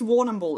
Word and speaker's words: Warrnambool: scare on a warning I think it's Warrnambool is the pronunciation actually don't care let's